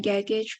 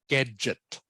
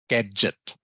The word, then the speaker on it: gadget: um include conclude smartphone is the most useful gaggage for me very good excellent last sentence all right and just uh just correcting your pronunciation gadget gadget yeah cage Gadget g g a d g-e-t